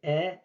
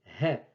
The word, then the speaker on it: ح: On risque de prononcer E ou bien He. Non, ce n'est ni E ni He. C'est plutôt He. He. On dirait une vanne sèche qui dégage de l'air. Et ça fait He. He. Septième lettre, Kha.